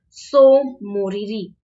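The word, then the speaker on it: Tso Moriri: Next आपका है सोमोरिरी। सोमोरिरी ये आपका जम्मू एंड कश्मीर में है। देखो टी यहाँ पर साइलेंट लेटर है, तो अक्सर बच्चों को कंफ्यूज करवाने के लिए ये ऐसे चीजें दी जाती हैं।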